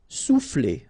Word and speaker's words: souffler: Souffler, okay? O and U will produce OU, sou, souffler.